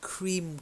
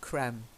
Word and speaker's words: cream: Okay, the first one, that is cream coloured, not creme, cream.